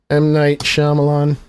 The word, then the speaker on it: Shyamalan: to pronounce it I don't know how to spell it remember phonetics number one campaign uh number one campaign policy is phonetics prounce M Night Shyamalan hey Google even knows it M Night Shyamalan